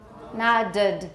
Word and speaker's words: nodded: How do you pronounce it? Nodded, nodded is correct.